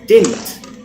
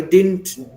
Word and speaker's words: didn't: When you write two D's, but the second D is silent when you pronounce it.